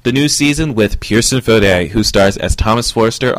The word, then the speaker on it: Fodé: September 18th all that and more with Pearson fod check it out this is Pearson fod I had to find out how to officially